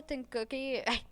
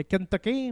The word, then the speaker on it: Kentucky: Au Kentucky non euh non pas Kentoky de Kentucky.